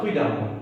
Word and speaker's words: prudemment: Mais est-ce qu'il nous dit prudemment ou ça prudemment? Il nous dit prudemment. Vous trouvez, dans E, mais c'est moi qui prononce A.